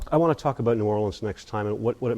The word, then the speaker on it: New Orleans: By the way, it's pronounced New Orleans, not New Orleans.